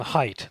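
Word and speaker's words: Haidt: Jonathan Height, that's spelled H AI DT, is the author.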